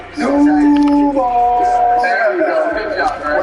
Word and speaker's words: Duval: So am I pronouncing that correctly? Duval!